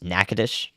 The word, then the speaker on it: Nacogdoches: on the day of so we'll see yeah Nacogdoches nakadish in Louisiana I've learned a lot but there's always learned more to learn about pronunciations where would I have positioned on last